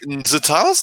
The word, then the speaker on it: Zatanna: Is it Katana or Zatanna?